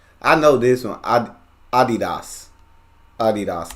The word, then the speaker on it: Adidas: soccer jersey celebrate Germany the world I know Adidas I know this one Adidas Adidas not Adidas Adidas but I always say